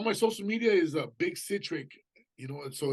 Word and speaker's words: CiTRic: Basically, just all my social media is Big CiTRic, you know, and so it's BigCatric. Like I always tell people, if you can't pronounce it, it's like citric acid, you know, because people are, what the hell's a citric?